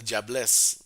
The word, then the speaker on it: Diablesse: speaking Caribbean, there's a woman spirit called the diablesse. Like it's from French, like the female devil, diablesse, but it's Diablesse, right? yeah, but it's pronounced like it's like somebody saying, "Hey, jobless, man."